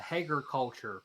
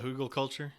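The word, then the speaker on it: Hügelkultur: I've done a Hager culture project, which is a form of permaculture. It's Uh-huh. I think it's spelled like it's a German word, Hegel Oh, okay, culture. yeah. The Hugel culture, yeah.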